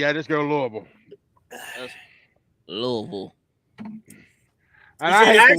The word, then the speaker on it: Louisville: You gotta say it like a native. Louisville. Louisville. Everybody Louisville. It's like everybody. It's like saying Nolans. It's like Nolans. It's actually Louisville. King Louis, Louisville.